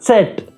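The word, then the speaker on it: Zett: Epsilon Y को epsilon बोलेंगे और सेट। जेड को हम बोलेंगे सेट। जैसे त और स का साउंड आएगा।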